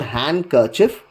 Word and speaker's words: handkerchief: This is not handkerchief. So handkerchief. So thus D is not pronounced in this case.